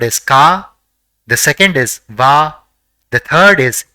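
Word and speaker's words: は: it is used as a particle it is pronounced as VA the character in the middle is O and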